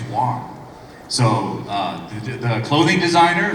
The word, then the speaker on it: Wang: but I'll tell you w and WG is pronounced the same way it's Wong so uh the clothing designer Vera W she